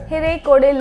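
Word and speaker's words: Hirekolale: other states of Karnataka, the lake's name is pronounced as Hirekode Lake. Please do not go by the spelling. It's like, I know there is L added to the spelling, but this is how the local people pronounce Hirekode Lake.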